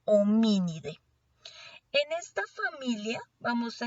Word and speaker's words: Hominidae: En biología es importante recordar que cuando se encuentra la A y la E juntas, no va a sonar la A, sino que se salta inmediatamente al sonido de la E. Por eso, a pesar de que se escribe hominidae, su pronunciación correcta es homínide.